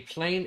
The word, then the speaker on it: plein: Let's say you pronounce it right. Plein, Plein.